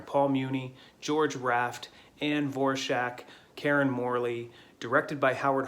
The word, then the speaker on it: Dvorak: last name is spelled d-v-o-r-a-k uh typically people with that last name pronounce it dvorak i looked it up she is on the record as saying that she pronounced it vorshak so i'm gonna go